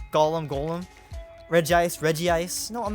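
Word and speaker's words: Regice: like it is like people say reggie ice but it's regis i'm not going to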